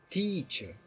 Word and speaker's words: teacher: importante relevar é que esse te é um ter verdade Teacher teacher e o EA é um ditongo que eu ia esticado tíbia né tchau então